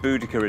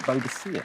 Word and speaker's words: Boudica: I always pronounce that Boadicea. Well, I know. We were of a generation that was taught Boadicea. Yeah. And it's now become Boudica.